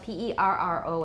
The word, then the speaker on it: perro: voiced alveolar trill, rrr, and that's the word for dog, which is spelled P-E-R-R-O in Spanish. Perro. Perro. Perro.